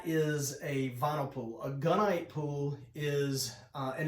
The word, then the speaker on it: gunite: A gunite pool is, and it's pronounced gunite, like a gun, and they use a